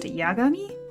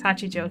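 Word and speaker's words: 八上: So, her name is written as eight and up, but it's pronounced Yagami.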